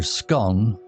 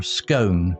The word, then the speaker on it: scone: Note for learners: scone is pronounced either scone or scone in British English, and it's a key part of traditional British tea culture.